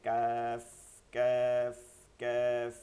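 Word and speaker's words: ك: আসছে কিন্তু দেখছেন তো এই বরাবর তালুতে লাগাইয়া উচ্চারণ করতে হয় নরম আওয়াজে কাফ কাফ কাফ বাংলার মতন বাংলায় কখনো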